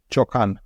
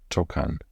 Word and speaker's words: ciocan: Ciocan. Ciocan.